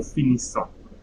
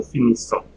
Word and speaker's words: finissons: Nous finissons, I'm not reading the S. Nous finissons, we finish.